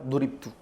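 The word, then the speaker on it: ضُرِبْتُ: Tapi kalau antum salah harakat bacanya dabtu ente yang salah. Lihat harakatnya kalau beda salah arti tulisannya sama. Dorabata sama. Kalau dia baca dorabtu saya yang mukul. Duribtu saya yang dipukul.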